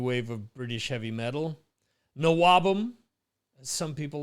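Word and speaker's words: NWOBHM: Nawabum, as some people like to say. I guess the H is silent for them.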